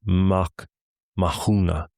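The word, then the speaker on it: Mac Mathúna: Mcmahin is Mach Mahuna, the son of Mahung's line.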